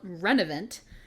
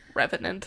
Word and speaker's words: revenant: He says, "I pulled a dark talisman from the neck of a renovant." Revenant. Revenant. Thank you. You switched the end of the V.